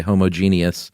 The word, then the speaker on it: homogeneous: And you know these things work better in a homogeneous population. And every time I see that word, I want to say homogeneous for some reason. That's the British way of saying it.